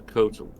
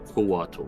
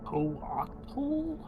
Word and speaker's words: coatl: He's a kotal. A what? I think it's spelled correctly. Let me check. A koatl, my bad. Coatl? Oh, like Quetzalcoatl.